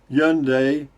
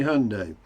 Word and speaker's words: Hyundai: they once said that the easiest way to remember how to say yunday was that it rhymes with sunday okay sunday hyundai got it uh okay